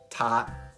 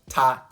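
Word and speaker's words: 他: That's right, the words for he, her, or it may have slightly different characters, but they are all spoken as ta.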